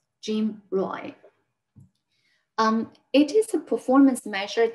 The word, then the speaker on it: GMROI: Okay, gross margin return on inventory is abbreviated as GMROI, and it's usually pronounced as GMROI. GMROI.